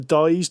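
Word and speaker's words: Dized: We started playing it and we used the dyed tutorial. I think that's pronounced.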